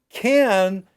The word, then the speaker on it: can: So can is longer. Can.